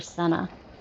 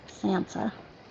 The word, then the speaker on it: Sansa: I've been saying it wrong, right? I've been calling her Senna. Sansa.